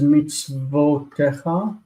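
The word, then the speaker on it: מִצְוֹתֶיךָ: You can't open a syllable with a vowel, and if this were O, it would be opening a syllable because the shva closes this syllable. Meets O, this has to be vo. Meets vo techa.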